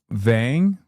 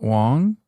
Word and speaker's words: Vang: It's Vang, not Wong.